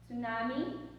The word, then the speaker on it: tsunami: Number 5, tsunami. Tsunami. Is it tsunami? But remember that T is silent.